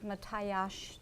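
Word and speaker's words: Mátyás: Matthias, or Matthias, because S is pronounced S-H, church, and then you can see to the left of there is St.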